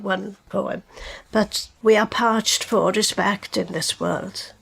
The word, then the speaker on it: Parch: been reading all day is Parch, but you pronounce it as Can you just say it again? Parch. Parch.